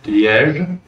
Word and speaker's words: Liège: The name of the city is pronounced Liège. Oh.